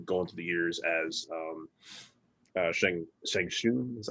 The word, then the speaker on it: Shang Tsung: they showed him going through the years as Shang Shun, is that how you say it? Shang Tsung.